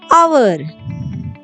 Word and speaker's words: hour: As for example, hour, honest. In this word, first letter is H, that is consonant. But here the first letter consonant is not pronounced and the word begins with vowel sound.